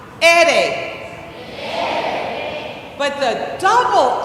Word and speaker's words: ere: In Spanish, the letter R is pronounced ere.